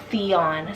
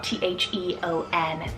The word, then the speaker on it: Theon: it means warrior or honorable then we have theon t-h-e-o-n theon imagine these powerful boy siblings aryan and